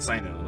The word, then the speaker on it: Cyno: So I can type in CYNO, because that's what a Sino is spelled like.